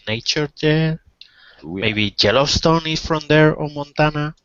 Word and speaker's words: Yellowstone: Be careful of pronunciation, Eduardo. It's Yellowstone.